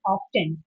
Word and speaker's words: often: So what we have mostly studied or we are we are taught in the schools is often and the teachers specially tell that T is silent.